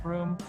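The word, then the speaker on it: Bruttenholm: A small team of allied soldiers accompanied by a young paranormal expert from Oxford University named Professor Trevor Brut in home pronounced broom was dispatched to intercept this occult activity.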